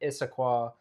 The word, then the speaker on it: Issaquah: we had to look up the pronunciation of this before we started. So this took place at Issaquah, Washington.